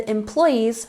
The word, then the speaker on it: employees: not a digit and employees make sure you're emphasizing the second syllable in the sentence so